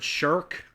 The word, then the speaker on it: Shrek: And we had a whole debate on how you actually pronounce Shrek. Turns out you pronounce it Shirk.